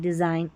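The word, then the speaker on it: design: जी एन जब भी साथ में आएगा न पढ़ेंगे, क्योंकि एन का उच्चारण है और जी यहाँ पर साइलेंट है, देखें, ठीक है, जी साइलेंट, साइन, डिज़ाइन, अलाइन और रिज़ाइन, जी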